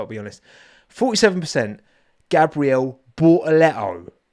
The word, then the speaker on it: Bortoleto: That is how it's pronounced, right? Bortoleto. Get with the... It's funny because, I find it quite jarring how some of the commentators call him Gabriel when it's Gabriel. That's how he says it.